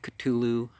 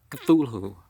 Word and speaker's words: Cthulhu: Let's start with the Call of Cthulhu. And H.P. Lovecraft said this is supposed to be said in 2 syllables, so if I make it sound weird, that's what's going on.